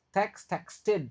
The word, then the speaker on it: texted: Oke, ingat texted texted. Ingat kapan edbaca kapan tidak. Yang cook enggak dibaca yang text dibaca karena dia berakhir t.